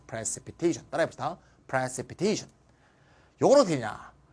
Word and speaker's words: precipitation: TION은 바로 앞에 액센트가 있으니까 precipitation.